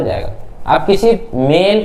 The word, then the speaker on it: Z: जरूरत नहीं है, लेकिन इसको जी पढ़ा जाता है, जेड नहीं पढ़ा जाता है, प्रोनाउंसिएशन बदल जाती है, आपको पता होगा।